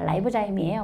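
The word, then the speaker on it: ribozyme: 효소의 기능을 하는 리보자임이에요 그 라이보자임이에요 뭐 발음은 그런데 리보자임 있니다 이렇게 얘기한다고 약간 이건 기능적 이름이지 그지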